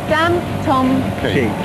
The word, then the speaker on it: Dantomkia: Dantomkia. Dantomkia. Daniel, Thomas, Kira, my 3 children.